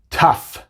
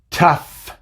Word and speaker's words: tough: Por ejemplo, en la palabra laugh, laugh, así se pronuncia, laugh. Cough, cough, tough, tough, enough, enough. No son muchas palabras en las que la G y la H juntas hacen el sonido de la F, pero son algunas y